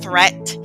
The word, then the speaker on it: threat: deed watch out for meat and great and threat they rhyme with sweet and straight and debt a moth is not